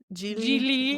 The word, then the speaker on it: Gigli: So the movie is uh Jie Jilie whatever it rhymes with really he says like three times in the movie.